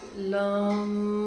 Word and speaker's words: लम: सांस ले लीजिए, उच्चारण करिए, लम। सांस छोड़ते वक्त आपको म वाली साउंड बाहर निकालनी है, तो ये पूरा उसका बीज मंत्र का उच्चारण हो जाएगा।